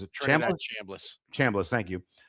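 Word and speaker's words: Chambliss: that miss quarterback Trinidad uh I can never pronounce his last name. Is it Chamblas?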